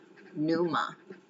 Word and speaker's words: pneuma: I'm actually trying to talk about numa. Numa. Numa. Numa. It's spelled P N E U M A.